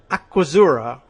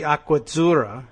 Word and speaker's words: Aquazzura: Huffington Post reports that luxury shoe brand Aquazzura it's Aquazzura, two Z's, so that should be Aquazzura. I don't know if they pronounce it that way.